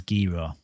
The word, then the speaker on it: Gero: this particular coin is called gero or jivo depending on how you want to pronounce it i've heard people say both ways g-roll comes natural but i think it is gera so i'm just going